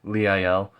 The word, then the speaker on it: Liael: I know a lot of people pronounce it Liel or Liel or Lao, but I have always looked at it and just been like, yeah, Liael, because I feel like it's an angel. Zafkiel, you pronounce a lot of the EIL kind of words.